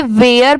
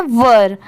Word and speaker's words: were: बहुत सारे लोग इसे वेयर पढ़ते हैं, बट वो रॉन्ग होता है। इसकी प्रोनाउंसिएशन है वर, ठीक है, WERE, वर।